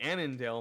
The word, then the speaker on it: Annandale: to climb as alan as annan excuse me annandale my mistake i'm mispronouncing all their names here are current have